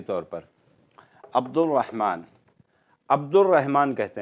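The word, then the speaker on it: عبد الرحمن: मिसाल के तौर पर अब्दुर्रहमान, अब्दुर्रहमान कहते हैं हम, अलीफ बा दाल और सीधा रा से जोड़ देते हैं, अब्दुर्रहमान। अलीफ और लाम प्रोनाउंस नहीं किया जाता है, लेकिन जब हम इसकी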